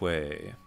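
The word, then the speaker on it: は: It's kind of strange, but you use the ha, but it's pronounced wa when it's a grammar particle.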